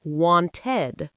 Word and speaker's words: wanted: It sounds like id, like the word ID. This happens when a verb already ends in a T or D sound. So take the verb want. If you said want, that would be impossible to pronounce clearly. So instead, we open it up and say wanted, wanted. Two clear syllables.